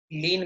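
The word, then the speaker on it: lien: English में legal terminology में लीन बोलते हैं एल आई ई एन लीन उच्चारण वही जो प्रभु की भक्ति में लीन हो जाते ना उच्चारण वही हिंदी वाला लीन लेकिन वर्ड है इंग्लिश का लीन प्रोनंसिएशन लीन इंग्लिश का वर्ड लीन जिसका अर्थ है रिटेन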